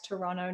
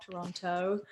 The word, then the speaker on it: Toronto: Toronto, I've got to make sure I say it right. Toronto, not Toronto, apparently.